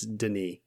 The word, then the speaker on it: Denis: It's Denis. Like Denis Villeneuve, the Dune director.